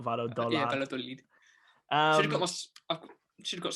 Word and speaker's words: Valladolid: I think it's Valladolid, not Valladolid.